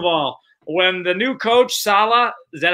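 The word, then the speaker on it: Saleh: leap second of all when the new coach salah is that how you say his name of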